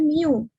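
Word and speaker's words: μ: sama dengan satu nah simbol ini dibacanya Miu jadi nanti memiliki rata-rata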